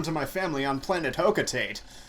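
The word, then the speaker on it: Hocotate: my family on planet hoka tate or hokutate as it may be pronounced i've i've always said hoka tate and i will continue to say as such analysis shows life support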